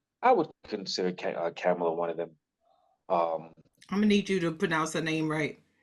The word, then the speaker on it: Kamala: But to me, it's just like you gotta find like the Westmores, or like I would consider Kamala one of them. Um, I'm gonna need you to pronounce her name right.